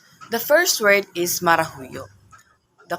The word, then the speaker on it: marahuyo: also their correct pronunciation the first word is marahuyo the correct pronunciation of this is marahuyo marahuyo marah means to Enchanted or to ch or